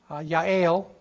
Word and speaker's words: Yael: And so Yael with a Y is pronounced like a Y. Yael, she's a gal.